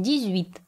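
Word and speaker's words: dix-huit: произнесем моего как david мы помним что x перед гласным ли аж нужно произносить как зуб поэтому мы произносим дейвид число 19 звучит как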